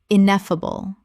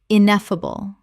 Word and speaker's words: ineffable: Common mispronunciation, ineffable. Correct pronunciation, ineffable. Four syllables with the stress on the second, meaning too great or extreme to be expressed in words.